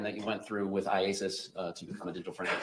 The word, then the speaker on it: IACIS: called Isis yes how do you say iasis iasis all right I just want to shorten it for you today yes all right so iasis tell us about that program that you went through with iasis to become a digital friend examiner yes the